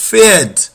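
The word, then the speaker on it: Pferd: it goats horse horse horse is fed fed you forget about the p you just pronounce it with f fed fed giraffe is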